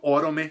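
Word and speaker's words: Oromë: Fora isso, se não tivesse isso nessa sílaba, a gente teria uma palavra proparoxítona, ou seja, com a marca tônica, com a sílaba forte na antepenúltima sílaba. Como é o caso de palavras como Númenor, o nome da famosa ilha de onde vieram os ancestrais do Aragorn, ou então Orome, que é o nome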